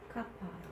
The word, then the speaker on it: kappa: Kappa. Kappa. Kappa is the consonant. English pronunciation is K sound, like a king.